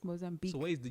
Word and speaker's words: Mozambique: in mozambique mozambique mozambique no you don't pronounce it's not que it's just mozambique so where's the u